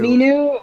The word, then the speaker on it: Minoo: effort into names, and you all butchered them. So this Yeah, is what you absolutely. What are they called? get. Minu. Minoo.